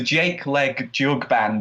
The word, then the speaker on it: Jake Leg Jug Band: stuff um and yes we struggle to pronounce it as much as everyone else who announces on us on stage so it's the jake leg jug band and we get all